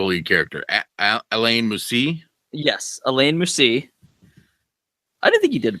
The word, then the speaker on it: Alain Moussi: Yes, Alain Moussi.